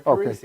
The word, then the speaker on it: Parisi: Yes, Parisi. Okay, Most people get my name right. Oh, well, I mean, you laughed. I was wondering maybe I screwed up. No. I can screw up a label. Parisi works out good.